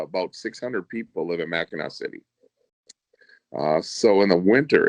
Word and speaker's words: Mackinac: pretty tough you know mackinac is a hard word the way that they spell mackinac city is pretty frenetically sound you know but uh mackinac is spelled m-a-c-k-n-a-c and everybody calls it mackinac so that's mackinac island